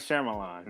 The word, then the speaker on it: Shyamalan: Night Shyamalan. It's not that difficult to say. No, M. Night This Shyamalan.